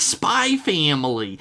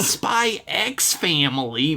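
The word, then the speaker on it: Spy × Family: In Japan, you don't pronounce the X in titles. It's like Spy Family. It's not Spy X Family, Myrtle snapped, waving the book at them like it proved her point.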